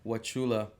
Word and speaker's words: Wauchula: sorry how do you say it again wachula wachula how what was the hip-hop scene over there